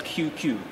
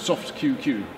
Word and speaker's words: Soft99: here in Japanese and the 99 is pronounced different isn't it yes QQ so it's soft QQ in fact or is it